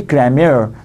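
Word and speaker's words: grammar: گرامر ای درش نداره و دبل ام نوشته میشه. گرامار نوشته میشه. یعنی جی آر ای دبل ام ای آر. ولی گرامر تلفظ میشه، پرونانس میشه.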